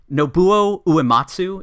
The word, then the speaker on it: Uematsu: And then the 4th party member, who's definitely the bard here, is Nobuo Uematsu. Is that how you guys pronounce it?